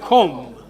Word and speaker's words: comb: In all these, B is silent. So it is thumb, num, womb, and comb.